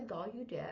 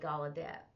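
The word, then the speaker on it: Gallaudet: do gadet G de some people say G de because it spelled with a u but I always spell G I always say gadet I can't talk now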